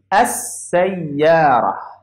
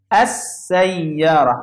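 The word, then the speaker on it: السيارة: I don't pronounce this lam. I will pronounce this and go to seen. So it will be, and I will put shadda here, as-sayyara, as-sayyara. I didn't pronounce it this lam.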